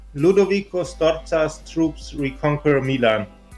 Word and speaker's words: Ludovico: titles in 1500 uh Duke Ludovic no ludovico starts US troops reconquer